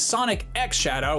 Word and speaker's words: Sonic X Shadow: There are a lot of different ways you can pronounce the X in the middle of a title like this, and I'm told that in this case it is Sonic X Shadow, which is maybe